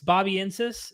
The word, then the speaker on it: Bobiensis: How do you pronounce this? Bobiensis?